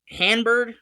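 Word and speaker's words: Hann-Byrd: I believe his last name is pronounced Hanbird. It's Adam Hanbird.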